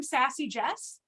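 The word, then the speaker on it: SassyJes: So I'm Sassy Jes everywhere. Jess everywhere. But it's spelled funny.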